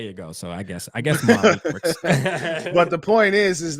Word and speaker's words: Malik: It's Malik, but I guess it's from where you're from.